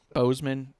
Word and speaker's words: Boseman: Bozeman.